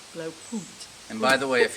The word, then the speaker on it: Blaupunkt: Jim, how do you pronounce this? Blaupunkt. Blaupunkt.